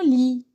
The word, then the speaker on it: lit: C'est le mot lit. Je ne prononce pas la lettre en gris. لا أقرأ الحرف باللون الرمادي. Lit, lit.